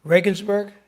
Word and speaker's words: Regensburg: Father Zollner is a Jesuit priest born in, I didn't ask you how to pronounce this. Is it Regensburg?